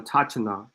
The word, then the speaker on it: autochthon: It's not a autochthonous or a autochthona. It's none of that. Autochthona. Autochthon. Autochthon. So autochthonous. Autochthon. And then you add the O-U-S. Autochthonous. Autochthon. That's how it's pronounced.